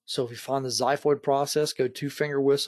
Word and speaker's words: xiphoid: going to be the xiphoid process so if you want how to pronounce that x word it's xiphoid with like a z it sounds like a